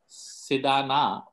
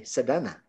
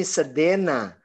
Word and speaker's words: Sedana: pronounce my name correctly, perfectly, Sedana. In Thank America, you so much. many people call me Sedena instead of Sedana, but you pronounce it correctly.